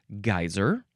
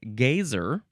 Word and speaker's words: geyser: It's either geyser. Uh the British sometimes will say gazer, which actually matches the previous word that we just had, gay, spelled ge y.